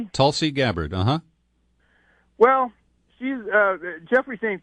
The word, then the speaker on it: Tulsi Gabbard: I don't think I've ever heard it pronounced. No, that's correct. Tulsi Gabbard, uh-huh.